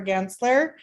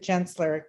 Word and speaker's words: Gensler: So Steve Painter, who's the Regional Design Resilience Leader for Gensler, or is it Gensler? Kind of like GIF and GIF. I'm not sure. Hard G. Gensler? Yeah.